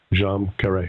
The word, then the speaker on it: Djam Karet: phonetic spell in your Wikipedia entry and a jeam Kare okay got it anyway uh Gail is kind